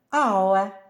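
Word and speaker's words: hour: ще є кілька слів Де вона не вимовляється наприклад ауе година тобто 60 хвилин оest чесний ось це ми вже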